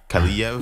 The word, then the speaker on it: Kaliev: and I also don't know how to pronounce So it. it's not Sean Avery. Arthur Kaliev.